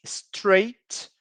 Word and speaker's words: straight: textura do cabelo, temos straight hair, wavy hair, curly hair. Lembra que eu falei agora sobre as palavras que têm o GHT? Aqui temos outra, straight. Então, só pronunciamos o som do T, straight.